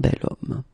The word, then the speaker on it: homme: if you look carefully, you've got H here, okay? And it's not a vowel at all. But then in French, we don't pronounce it.